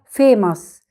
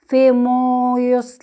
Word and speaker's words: famous: اليو طبعا بصوته عادي، ماس، يبقى فيماس. نطقنا الأو ما جيناش ناحيتها خالص، ما قلناش فيموس، لا قلنا فيماس.